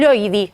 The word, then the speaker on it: Loidi: Está con nosotros ya Loidy. ¿Está bien pronunciado?